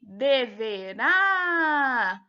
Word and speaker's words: deverá: Letra B, deverá. Tá dizendo que ela é uma proparoxítona. Então, ela era uma opção falsa, porque quando a gente pronuncia deverá, a gente percebe que a sílaba tônica é a última, então ela seria uma oxítona, certo, pessoal?